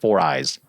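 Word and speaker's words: 4iiii: My understanding is it's supposed to be pronounced 4eyes.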